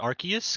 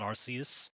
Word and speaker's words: Arceus: way RC is uh or I think wolf said it archus because I found out that's like the proper way to say it it's not it's not arus it's um archus yeah it's archus um if this is looking